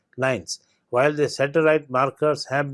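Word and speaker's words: LINEs: nuclear elements that is l i and yes pronounced as nines while the satellite markers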